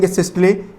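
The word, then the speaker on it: systole: भले ना पढ़ा हो, सिस्टोल, और एक होता है डायस्टोल, ठीक है। ये तुमको समझ में आया, इस वजह से मैंने सिस्टोल और डिस्टोल बोला। इसका करेक्ट प्रोनाउंसिएशन होता है सिस्टले और डिस्टले, ठीक है।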